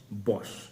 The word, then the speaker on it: Bosch: और आज हम बात करने वाले हैं एक ऐसी ही लेजेंड्री कंपनी की जिसका नाम है बॉश। Spelling B ओ एस सी एच बॉश।